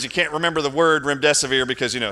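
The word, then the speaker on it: remdesivir: can't remember the word REM desevere because you know it's a it's made up just remember it rhymes with your death is near that's all you have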